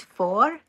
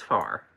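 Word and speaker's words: får: appreciate it all right the first one is four and that means sheep I've said it two times four and that's the one many people pronounce as far right yeah but the circle above the a makes it an o sound ah thank you and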